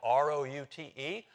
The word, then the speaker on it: route: I can spell it as root, as in to rhyme with boot. Or, I can I can pronounce it. Or, I can pronounce it as route, so as to rhyme with about.